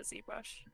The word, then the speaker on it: ZBrush: said brush yes actually do you call it zeb brush or is it still zbrush no it's zebra because everyone else calls it zbrush thank you that's why i say z because it rhymes i don't i don't care about myself it's faster in the song with z but i think i say zed every other time i've pretty much discarded